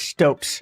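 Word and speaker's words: Stoat: I think it's Stokes is how you pronounce it. It's like the animal, however you say it.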